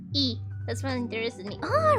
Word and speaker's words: y: It's just that in Russian, the and is pronounced the same way in Spanish. E.